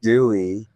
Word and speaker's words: Dui: Well, my name is Dewey. And so the Spanish, the U is U and the I is E. So my name is spelled different, but it's Dewey.